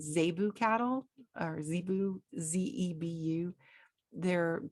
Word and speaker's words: zebu: kind of cattle they have here it's called zebu cattle or zebu z-e-b-u they're they're quite different